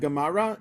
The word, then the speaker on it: Gomorrah: the throat like that so someone who doesn't know how to make that sound it's sounds like a hard G so that's why AA becomes Gaza that's why am becomes gamar okay so that's just so